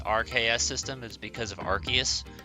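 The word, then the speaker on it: Arceus: system is because of archus that confirms it's pronounced archus not arus hot dog I was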